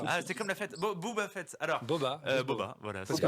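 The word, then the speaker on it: Boba Fett: comment on le prononce Booba fit fa comme la fête ah c'est comme la fête Booba fê alorsob Boba voilà parce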